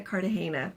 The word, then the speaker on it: Cartagena: I love Cartagena Cartagena. I've heard it pronounced both ways.